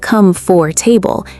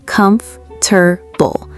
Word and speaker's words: comfortable: It's not come for table, it's more like comfortable. Three syllables, not four. Wait, say that again. Comf-ter-ble.